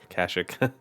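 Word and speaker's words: Kashyyyk: I think it's pronounced Kashik. I always say Kashik. There's three Y's.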